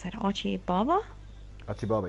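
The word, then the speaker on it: Achi Baba: Achibaba, yeah. Like Alibaba? Yeah, I think that's right.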